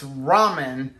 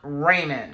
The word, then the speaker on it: ramen: every other comment is you need to learn how to pronounce ramen because it's ramen not raymond i'm sorry okay tomato